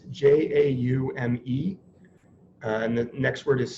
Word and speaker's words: Jaume: It's called I pronounce it Jaime Serra. It's Jaume.